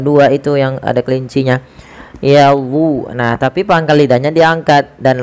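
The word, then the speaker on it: يَظُنُّونَ: itu yang ada kelincinya yadu. Nah, tapi pangkal lidahnya diangkat dan apa? Lidah kita mendekati langit-langit atas karena melekat dia karena dia ee itb. Nah, maka illa yadun bukan yazun nun tapi yadun nun.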